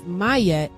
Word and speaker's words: Maat: Egyptian mythology the goddess Maat pronounced as mayette sprung up into existence